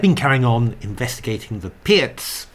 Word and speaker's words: Pirc: and um I've been carrying on investigating the Pierz pronouncing it properly this time um together with dragon